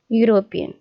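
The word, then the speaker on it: European: और इसकी प्रोनाउंसिएशन क्या है इसकी? यूरोपियन। ई जो है साइलेंट है और ये इस यहाँ से शुरू हो गई है, तो इसकी भी प्रोनाउंसिएशन य से हो रही है।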